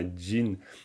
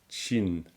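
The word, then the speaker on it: སྦྱིན: Vous voyez bien le jin sabatabayata jagegu jin à jin. Ça se prononce vraiment jin et non pas chin à cause du sapatapayata.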